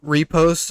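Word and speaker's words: riposte: The second one, repost, is spelled R-I-P-O-S-T-E. It's a repost, but I say repost because that's what Foul got me on at the beginning.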